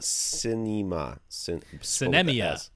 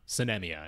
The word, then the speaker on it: Sinemia: In particular, what about Sinemia? Sinemia? It's like cinema, but spelled with an S instead of a C, and then Mia instead of Ma. Sinemia, anyway. Sounds like sin and enema stuck together, which is never...